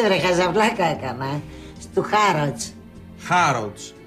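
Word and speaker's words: Harrods: Χάροτς. Το ρο δεν προφέρεται. Χάροτς.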